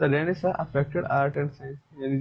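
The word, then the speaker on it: Renaissance: रेनेसा, इसमें पता है रेनेसांस में ये जो लास्ट के दो वर्ड हैं ये साइलेंट रहते हैं, ये साइलेंट रहते हैं, उसको रेनेसा प्रोनाउंस करते हैं।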